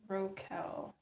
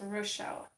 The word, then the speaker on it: Rochelle: But does the CH make like a hard sound like a K sound, or is it more like a sh sound? So it's like Rochelle or Rokel.